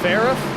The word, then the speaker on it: Farah: for Nick uh see it's pronounce the girl's name Sarah but with an F so Farah Farah so Sarah all right I think